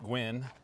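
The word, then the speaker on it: Guin: Alabama w the town of goowin pronounced Gwyn is uh another funny story of how it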